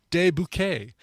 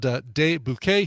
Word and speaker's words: De Bouquet: Indie rock band De Bouquet. It's spelled just like it sounds. De, D-E, Bouquet. B-O-U. Q-U-E-T. Sure.